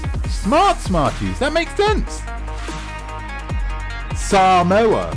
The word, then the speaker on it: Samoa: Smarties that makes sense Samoa which is how you're supposed to pronounce it Easter Island lovely Puffin